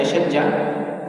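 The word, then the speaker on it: الشجة: Jadi asyajjah, asyajjah, bacanya asyajjah, adalah al-jarhu fil ra'si wal wajhi khasatan.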